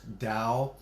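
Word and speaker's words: Tao: which is spelled ta and it's but it's pronounced Dow the Eastern teachings and there's breathing techniques and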